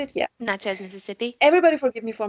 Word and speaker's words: Natchez: going from Baton Rouge to Natchez, I think. Natchez? Is that Yep. how you say it? Yeah. Natchez, Mississippi.